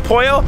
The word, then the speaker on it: pollo: do uh like chickens like it's el poyo they do half and